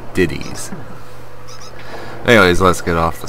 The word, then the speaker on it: Diddy's: it's his it's not Diddy Kong like most people people would say is there's a there's an apostrophe s in Diddy so it's diddies anyways let's get off